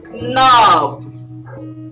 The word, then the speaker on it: knob: word we have is knob now not knock the k is silent so it is no